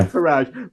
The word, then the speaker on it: Farage: I always mispronounce the name. Not Faber. Farage. Farrage, right? Farage.